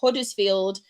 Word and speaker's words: Huddersfield: And yes, I did pronounce my H's, everyone in the chat. Huddersfield. So don't come for me.